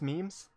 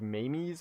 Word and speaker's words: memes: random memes or I I think pronounce memes I think they're pronounced memes I I was originally pronouncing them like Mimi's or something but that seems wrong uh from what I've